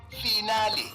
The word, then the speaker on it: finale: a guide to mispronunciation today's word finale origin Italian pronunciation finale meaning the last part of a series commonly mispronounced s final as if you are discussing your metric results example I can't wait